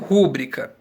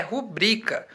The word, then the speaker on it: rubrica: se diz rubrika ou pública bem o jeito certo de pronunciar essa palavra é rubrika em virtude de ela ser uma palavra paroxítona e não ser uma palavra proparoxítona correto senão ela teria